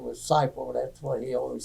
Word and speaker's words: Seipelt: my father's name was Joe Robert, and he always pronounced his name as Seipelt, and he always liked people to say, pronounce his name right.